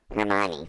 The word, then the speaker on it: Hermione: Hermione, thank you.